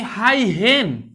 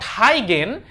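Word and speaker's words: Huygens: এই যে মাত্র আমি যে কথাটা বললাম এটাকে বিজ্ঞানী হাই হেন, নট হাই গেন, এটার আসল উচ্চারণ হচ্ছে হাই হেন।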